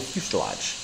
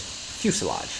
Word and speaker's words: fuselage: So we could use this, which is a Mark I fuel, liquid fuel fuselage. The way you pronounce that word is fuselage, not fuselage.